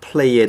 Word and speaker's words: play: 근데 이제 이 pray하고 play에서 그 발음의 구분은 이 기도하다의 pray는 이거를 그냥 pray 이렇게 이제 발음하시면 되고 놀다의 play는 pu가 아니라 pull 이렇게 play 이렇게 발음하시면은 요거는 이제 play 놀다가 되고 그냥 pray 이렇게 하면 이제 기도하다의 뜻이 되겠습니다.